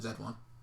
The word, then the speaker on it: H1Z1: play zombie MMO H1 Z1 Z1 Z1 Z1 I no it's not Z1 it's Z1 you pronounce it Z de one yeah like you're a Canadian yeah dude I looked